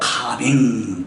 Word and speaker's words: calming: L이 묵음이죠. L은 발음 안 하고 calming 이런 말이겠죠.